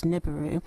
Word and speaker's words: Nibiru: well I guess NIU if we were to use the English dialect I guess the sounds phonetically would come up as niburu so please tell us